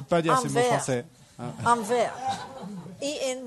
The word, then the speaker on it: verre: Et il avait un verre de camomille. What's this? Un verre. Who? Un verre. Oh, I can't say you French words. Je ne peux pas dire ces mots français. Un verre.